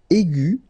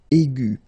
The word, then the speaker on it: aigu: And the first one is aigu. Okay, and then the feminine form will be aigu. So phonetically, it is exactly the same thing.